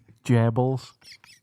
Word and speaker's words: Goebbels: Goebbels. That's how they pronounced it in Germany.